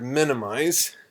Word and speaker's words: minimize: Video for the word minimize. Minimize. So notice the Z pronunciation in English. Minimize, minimize, minimize.